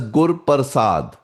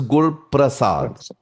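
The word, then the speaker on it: ਗੁਰ ਪ੍ਰਸਾਦਿ: So a lot of people pronounce this as gur pasad but but how it's written it is gur prasad.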